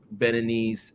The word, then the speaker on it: Beninese: So why should someone get Beninese citizenship, or what is it, Benoit? How do you pronounce it?